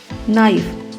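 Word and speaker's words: knife: नाइफ, K और N एक साथ आए हैं, K साइलेंट रहेगा, N बोला जाएगा, केवल N की साउंड आएगी।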